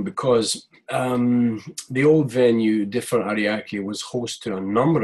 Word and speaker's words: Ariake: you know your home studio coast you differ Ariake am I saying it right yep yeah you've